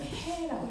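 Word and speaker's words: ה: 이거를 뭐라고 하냐면 해라고 읽어요. 해. 읽을 때 해.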